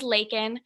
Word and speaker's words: Laekynn: so my name is laiken it rhymes with bacon so if you weren't sure how to pronounce my name just think of bacon and when i was